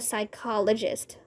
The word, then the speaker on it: psychologist: Because the P is silent, said Mrs.